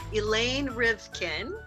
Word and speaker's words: Elaine Rivkin: from entertainment industry experts Our Guest today is Elaine rivkin did I pronounce that right you did hello okay Elaine